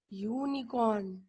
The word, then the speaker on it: unicorn: The sound is coming of Y.